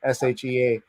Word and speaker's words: Shea: fan you must check out lastplay at shea shea is the pronunciation and vandana says you played for belie